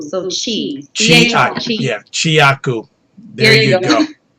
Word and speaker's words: Chiaku: It's Chiaku. So Chiaku.